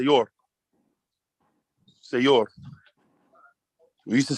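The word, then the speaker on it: sayur: say yours say you're s is soft we have a soft letter it automatically makes the bowel next to it um stuff you can pronounce a y i or a depending on what letter comes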